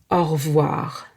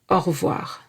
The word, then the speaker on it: au revoir: It is pronounced from the nose. À bientôt. You can also say goodbye, which is au revoir.